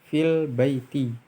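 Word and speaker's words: في البيت: Fi al-baiti, fil baiti, fil baiti, bacanya seperti itu.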